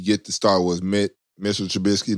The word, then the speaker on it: Trubisky: Trubinsky. I said it right, right? No, Trubisky.